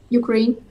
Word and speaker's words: Ukraine: Ukraine. Ukraine. Ударение на какой слог? Так я вам говорю на русском языке, не на английском. Вы русский язык не знаете, мы уже это поняли. Ударение идет на второй слог.